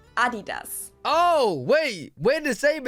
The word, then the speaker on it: Adidas: Now let's move on to something Adidas.